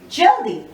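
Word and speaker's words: जल्दी: Next is jaldi. Again, la is just touched upon.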